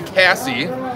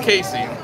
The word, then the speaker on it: Casey: way to spell it some people call me cassie but it's casey oh they go hey